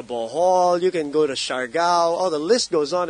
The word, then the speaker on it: Siargao: You can go to Siargao.